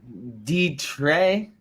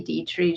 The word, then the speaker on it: Detre: So Detre. That's very good. It's actually French in origin, but my husband's family Americanized it, so they just say Dietrich, just so everybody here can pronounce it better.